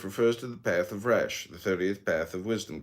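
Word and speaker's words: ריש: Resh pronounced Resh, transcribed as the number 200, meaning face, the collective intelligence.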